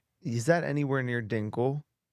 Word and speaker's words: Dingle: Dingle. As said, as it's spelled, D I N G L E.